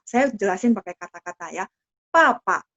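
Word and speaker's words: 爸爸: Kalau bahasa Mandarin Pinyin papa, kita bacanya PA ya, bunyinya PA. Tapi ketika tulis Pinyin adalah BA ya. BA. Terus nada 4. Papa seperti itu. Jadi nanti kalau misal ketemu buku pelajaran BA bacanya apa? Papa. Bacanya jadi P.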